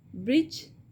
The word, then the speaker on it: bridge: Bridge. And silent letter in this word is D.